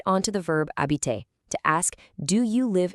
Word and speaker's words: habites: right onto to verb habiter to ask, do you live in Paris?" You see the spelling, but you know the secret pronunciation rule is to just say "habite".